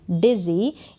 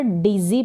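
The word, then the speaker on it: dizzy: हैं, आई am feeling डिज़ी यानी मुझे चक्कर आ रहे हैं, चक्कर जैसा लगना ही, मुझे चक्कर आ रहे हैं। यहाँ पर डिज़ी पढ़ेंगे, इसको डिजी करके नहीं पढ़ देंगे, डिज़ी इसका उच्चारण होगा, और डिज़ी का मतलब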